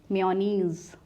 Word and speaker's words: mayonnaise: तो ये मियो नहीं है, ये MAY जो महीने का नाम होता है, मंथ का नेम होता है, उस वाले उसी वाले साउंड से राइम करता है मे। मेयोनीज और मेयोनीज, both the pronunciations are completely acceptable.